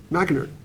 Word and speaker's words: McInerney: McInerney.